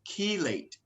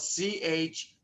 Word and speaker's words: chelate: it's more of a nutritional medical term it's chelate and it's spelled c-h-e-l-a-t-e chelate and what the process a chelate process